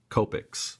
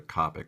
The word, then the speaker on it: Copic: you know i guess in north america we pronounce it copics which i always i usually go to copic but whatever but we